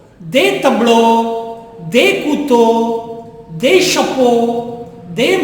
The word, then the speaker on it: tableaux: But X is not pronounced. It is not tableaux. It is tableau. Des tableaux, des couteaux, des chapeaux, des manteaux, des bateaux, des oiseaux.